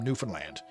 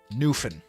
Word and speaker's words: Newfoundland: It's it's Yeah, it's Newfoundland. Not New Foundland. Not Newfoundland. Newfan as Yeah. If you were to spell it phonetically, it' be N W F I N. L A N D.